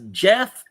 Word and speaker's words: Geoff: And I'm like, I call them Geoff to their face just to see them go like, no, it's Jeff. Well, it's spelled Geoff.